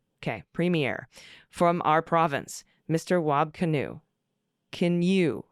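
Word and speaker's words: Wab Kinew: Wab Canoe. Canoe rhymes with canoe.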